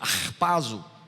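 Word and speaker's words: ἁρπάζω: Só que enquanto a primeira, harpazo, a pronúncia é essa mesma, harpazo, como quem está, né? Som gutural.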